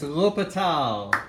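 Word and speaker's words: L'Hôpital: And this is called, now it's one of the simplest but hardest to pronounce unless you're French. All right, it's L'Hopital.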